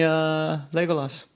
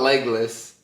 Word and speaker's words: Legolas: Legolas? No, not Legless. Okay, you know what? It's Legolas. I don't even know what that is. That's how it's spelled, but I feel like it's pronounced. So that's how it's spelled, but that's not how it's pronounced.